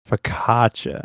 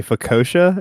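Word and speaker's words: focaccia: So, that really nice fluffy Italian bread that starts with an F, how do you pronounce that? Danger. Fkaca. Fakatcha. Okay. See, I always say fossa.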